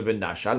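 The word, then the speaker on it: ונשל: C'est vrai que le Mikra, la prononciation c'est Venachal, mais l'interprétation à donner c'est Venichel.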